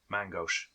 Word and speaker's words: main gauche: Mangosh? Main gauche.